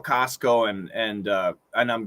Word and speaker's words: Costco: service when you pronounce costco is the t silent usually engine usually you could say costco with a stop t but when we say it fast we cancel the t costco so don't worry we